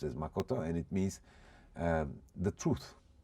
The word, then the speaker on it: makoto: It is pronounced as makoto, and it means the truth.